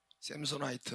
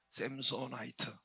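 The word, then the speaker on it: Samsonite: 삼손, 뭐 영어로 A를 아 발음도 하지만은 에 발음으로 많이 하니까 샘소 IT 전미어 IT를 붙여가지고 그 회사로 나중에 맨 처음에는 삼손이었대요. 삼손 SAMSON 그대로 썼는데 지금 IT를 붙여니까 샘소나이트로 된 거예요.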